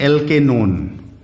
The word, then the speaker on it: एल्केनोन: वन लिखते हैं but pronounce करते हैं ओन, इसको प्रोनाउंस करेंगे आप ओन, तो इसका नाम होता है एल्केनोन।